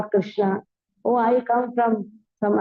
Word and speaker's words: Krishna: is called as Krishna Krishna has two syllables Krishna a which says